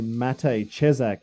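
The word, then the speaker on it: Matěj Čepák: And I guess if people don't know who Matej Cesak is, that's how you say his name.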